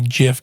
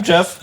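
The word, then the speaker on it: Gef: It is Jeff. GIF the talking. It is it is spelled G E F but it in the in the uh old English way it is actually Jeff which is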